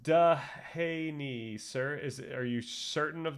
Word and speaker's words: Dehaene: It's pronounced Dehaney, sir.